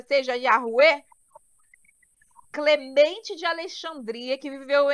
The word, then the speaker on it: Yahweh: Ao analisar inúmeros manuscritos contendo o nome Yud, He, Vav, He, concluiu o rabino James Trim que a pronúncia correta é Yahweh, em concordância com os maiores especialistas sobre o tema.